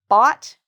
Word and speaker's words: bought: B-O-T. So this is not the spelling, but this is how we pronounce it. If you can say the word robot, bought, it's the same pronunciation.